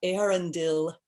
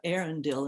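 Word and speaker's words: Eärendil: of elf land and i bet i just mispronounced aaron dill didn't i i'll say that again i feel a bit like bilbo having the cheek to make verses about aaron dill in the house of elrond but in the end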